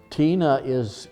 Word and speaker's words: tine: Tina it's spelled T-I-N-E, it's like a girl's name.